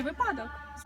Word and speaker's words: випадок: люблю чи люблю чи випадок зручний чи зручний запам'ятайте випадок наголос падає на перший склад висновок виняток за аналогією